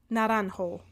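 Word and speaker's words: naranjo: d'Audrey aujourd'hui s'appelle l naranho parce que là je fais du Ling espagnol fait que je sais comment prononcer les j naran naran ouais naran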